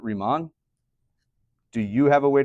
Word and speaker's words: Riemann: Uh you might hear other people say Reman or Ryman. Um I pronounce it Remon.